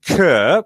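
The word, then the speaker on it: Chur: were canceled I mentioned the Big Air in Kerr which is the correct pronunciation and that was great to see that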